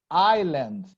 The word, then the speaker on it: island: Turismo Island uh uh never pronounce the S before L Island I'm okay okay nobody